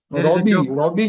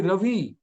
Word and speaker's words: Ravi: They say B for victory. There is no V in Bengali language. It's funny, but it's not. Robbie Shankar. Actually, Ravi.